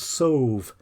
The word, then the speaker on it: salve: In past times, sheep were washed before shearing or clipping to remove salve, pronounced so s a u v, a mixture of